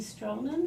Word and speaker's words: Stroman: Debbie Stroman, am I pronouncing that right?